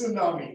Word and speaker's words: tsunami: what I've called this tsunami right 23rd December I think Chennai was hit by a huge uh tsunami and everybody know that the tea is silent so that is what